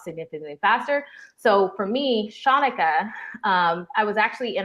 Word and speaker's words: Shanika: for the longest time because most people couldn't pronounce my name they would say shanika shanika whatever shamika i have an aunt